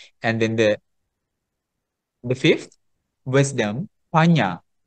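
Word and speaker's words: paññā: And then the fifth, wisdom, panya. How do you spell panya in Pali? Panna. N has that curve. Panya. The curve. Panya. Can you pronounce that word? Panya. Panya. Not panna. Panya.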